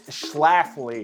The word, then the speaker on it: Schlafly: our first beer what is it Matt it's Schlafly it's Schlafly we had to look up the pronunciation proper cider apple pie and we have